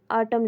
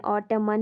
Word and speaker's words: autumn: रहा है आपको, AUTUMN, ऑटम लिखा हुआ है। ऑटम में एन जो है लास्ट पे लिखा वो साइलेंट होता है, ऑटम ही हम इसको पढ़ते हैं, ऑटमन नहीं पढ़ते।